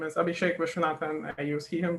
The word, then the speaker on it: Abhishek Viswanathan: a little bit about us my name is abhishek vishwanathan i use he him pronounced i'm a phd student from bombay in